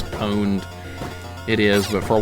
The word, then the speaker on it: pwned: I did I thought for a while it pronounced poned like PW but it's pwned it is but for a while I was